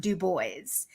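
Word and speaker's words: Du Bois: there was just a thread on Twitter about web de booys and his name he has ACT a document saying it's pronounced du boys and this um woman did like a podcast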